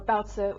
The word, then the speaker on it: baozi: So first up is what I have in my hand right now, baozi, or baozi is the correct pronunciation in Mandarin.